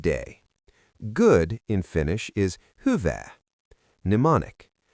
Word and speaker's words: hyvää: "Good" in Finnish is Hyvää. Mnemonic: Think of someone asking "Hy-vää are you doing?" and you say "Good!"